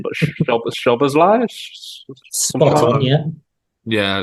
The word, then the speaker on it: Szoboszlai: I'm going to slaughter this name, but Szoboszlai?